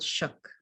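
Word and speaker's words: Suk: person and it's titled shook shook a human being a fognac dialect the s is pronounced shh it sounds like shook but with a shorter o perhaps we shake or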